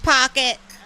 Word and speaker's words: H Pocket: And also, gosh, I still owe H Pocket. The H is silent. It's just Pocket.